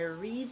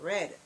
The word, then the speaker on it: read: Present tense read, past tense is also read, but it is pronounced differently. So you said, I read the book and I have read the book already.